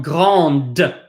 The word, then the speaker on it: grande: However, if a word ends in an E and the previous letter is a consonant, you now must pronounce that consonant. So this is not, if you add an E at the end, it's now grande. This is now petite. This is now lente. So no E, lent.